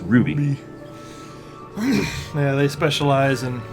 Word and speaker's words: RWBY: as red versus blue and RWBY which is pronounced Ruby Ru yeah they specialize in like short films